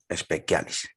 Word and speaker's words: specialis: Lex specialis, bueno, se escribe así, specialis, pero en latín se pronuncia specialis.